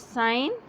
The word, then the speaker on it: sign: Here, the second one is sign. Here, G is silent.